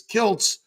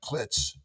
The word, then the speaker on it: Kiltz: So I added a T so they pronounced it properly, which Kilz is Kilts. But now they call me Dr. Klitz.